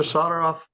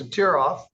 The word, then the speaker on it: Satir: Solderof, I've been mispronouncing your name incorrectly every time I call you. It's Satir.